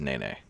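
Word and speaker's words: nēnē: telling me that the the official bird of hawaii is pronounced nene uh so thank you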